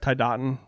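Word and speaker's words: Tiadaghton: tidon did I pronounce is that pronunciation right tidon yep that is pretty much dead on tiod some people drag it a little bit more yeah okay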